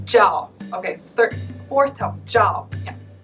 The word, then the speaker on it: Zhao: Which leads nicely to one of the next more common names, which is Zhao. Z-H-A-O. Zhao. Yeah, Bob really did a good job. It's Zhao.